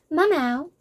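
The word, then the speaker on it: Maomao: Mamao, a young, which I love her name. I'm probably saying it wrong, but as it is written and the way I think it's pronounced, it sounds like meow meow.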